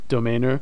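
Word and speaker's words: Domainr: annoying but anyway there's great tools online like domainer that's d-o-m-a-i-n-r and another one is don well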